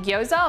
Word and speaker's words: gyoza: this is perfect for making gyoza or gyaza depending on where you're from and how you pronounce it but sort of a